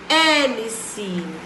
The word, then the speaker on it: Hélice: Hélice é o H e o E. Lembra que o H é mudo?